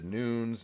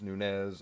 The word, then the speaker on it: Nunes: 135 pound Legend Killer Amanda Nunes Nunez pronounced both ways yeah yeah whatever but